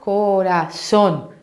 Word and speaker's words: corazón: então vou analisar aqui vou falar a palavra lá corazón ah tá forte essa última sílaba bem beleza ah identifiquei